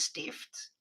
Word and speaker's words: stift: Yeah, it looks a lot like how you pronounce stiffen, but we don't do the double F. With us, it's a T, and then you get stift.